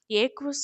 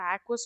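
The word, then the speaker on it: aqueous: ஏக்வஸ் solution, நான் ஏக்வஸ் solution, 2 division இருக்கு. ஏக்வஸ் சொல்யூஷன்னா water மட்டும்தான் சால்வெண்ட்டாக இருக்கும், அதை நம்ம ஏக்வஸ் solution R ஆக்வஸ் solution எப்படி வேணாலும் ப்ரொனவுன்ஸ் பண்ணிக்கலாம்.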